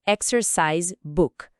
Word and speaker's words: exercise book: A palavra book tem aquele som de U mais curto como input, sabe? Book. E na expressão toda, exercise book, a força principal geralmente cai em exercise.